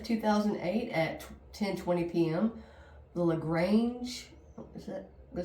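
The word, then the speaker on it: LaGrange: the lrange is that go say that's how you say it lrange Georgia detectives received a call about a robbery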